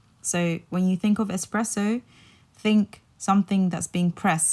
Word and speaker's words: espresso: when you think of espresso think something that's being pressed so it's it literally means pressed so when you're thinking about espresso like take out the X and just remember it's